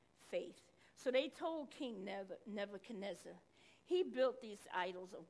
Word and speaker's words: Nebuchadnezzar: faith now there was king neza canezza and i pronounced his name wrong nebuchadnezzar i don't know where